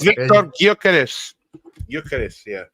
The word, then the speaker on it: Gyökeres: It's Victor Gyökeres.